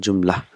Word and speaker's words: Jumla: what are those sentence is called Joomla in Arabi but we will pronounce it Joomla the last letter is not to pronounce so first Joomla will